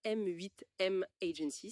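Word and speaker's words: M8M Agency: Alors, on prononce bien M8 M Agency. C'est ça exactement.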